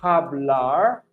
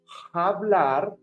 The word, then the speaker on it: hablar: ¿Podría hablar despacio, por favor? Remember, the H in Spanish is silent. So we are not going to say hablar. If not, we will say hablar.